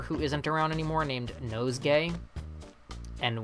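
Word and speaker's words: Nosegay: isn't around anymore named nose gay and when I say nose gay I mean it's spelled exactly how you assume the word nose gay is spelled nose and gay g-a-y why they translated his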